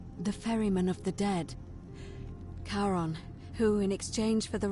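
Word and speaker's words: Charon: is a little off the name you heard wasn't karen it was c h r as in caron the ferryman of the dead karon who in exchange for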